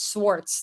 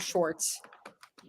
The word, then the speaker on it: Swartz: It's Swartz, not Schwartz. It's Swartz.